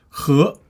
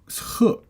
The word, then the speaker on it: 荷: Now this character has another pronunciation. It's 鹤. Now when you say 鹤, that's actually used as a verb, which means carry on the shoulder or back.